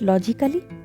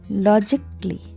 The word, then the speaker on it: logically: So you pronounce it logically, then it's wrong. So how to pronounce it? Logically. Logically. Don't pronounce letter A here.